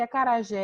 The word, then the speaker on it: acarajé: Eu preciso saber que acarajé é acentuado, por quê? Porque é uma palavra oxítona terminada em E.